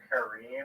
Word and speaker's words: Kareem: So I'm like, wait, you mean Kareem? Like, is that how you say it? He was like, yeah.